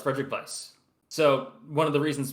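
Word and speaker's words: Frédéric Weis: It is pronounced with like With a the V. V? Yes, as far as I can tell, it's Frederic Weiss.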